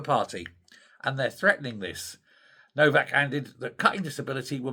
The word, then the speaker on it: Nowak: Well, the TUC General Secretary, a guy called Paul Novak, or no, it's spelled Nowak, but I think it's pronounced Novak, has said, no, this is wrong.